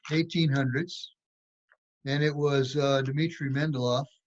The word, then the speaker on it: Mendeleev: It's in the late 1800s, and it was Dmitry Mendeleev. Some people pronounce it Mendeleev.